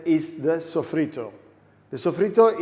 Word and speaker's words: sofrito: Yes, I said it right, sofrito. Don't get confused, it's not an Italian word, it's a Spanish word.